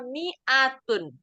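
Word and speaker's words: مئة: Kemudian yang terakhir ada miatun. Miatun mimnya emang ee tulisannya panjang seperti itu. Tapi cara membacanya dia tidak dipanjangkan. Jadi miatun sama seperti hadzihi.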